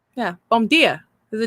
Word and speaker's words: bom dia: It's the same as the letter D making a J sound. Yeah. So hard for me. And it changes. Like Gia. Bom dia. Yeah. Bom dia.